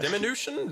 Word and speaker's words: diminution: Diminution? That's what it says. Dimination. Diminution. The Huh, potion of get small. Yeah. It's The potion Sensei. of It's small. Yes. it's pronounced diminution.